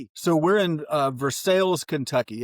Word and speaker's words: Versailles: uh we pronounce the We have some hard L's in ours. So, we are Versailles. Phonetically challenged. There we go. I remember uh I used to live out near Versailles, man.